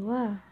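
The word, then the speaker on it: は: Wa ini yang lagi belajar huruf hiragana mesti taunya ini kan ha sensei. Kenapa dibaca wa? Jadi ha dibaca wa ketika sebagai partikel subjek, bukan dibaca ha.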